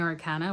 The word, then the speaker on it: Arcana: I didn't know how to say it. Arcana Arcana, but the audio book saying Arcana, so that's what we're going to go with.